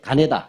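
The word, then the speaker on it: 金田: 예, 노란색 가네다. 네. 김전이라고 읽지 않습니다. 일본 사람들의 입장에서 읽어야 되잖아요.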